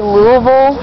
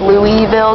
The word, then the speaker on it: Louisville: Yeah, if you're from here, you say Louisville, or if you live here, but it's really pronounced Louisville, because it's named after King Louis.